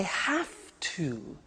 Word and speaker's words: have to: I have to. Notice I don't say V, I say F.